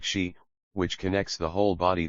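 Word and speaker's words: 嘻: associated with the spleen x i pronounced like she which connects the whole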